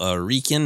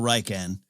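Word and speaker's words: Rieekan: i must have known general rieken as i called it or how are you pronouncing his name i always said general reichen reichan is probably more correct uh yeah it's also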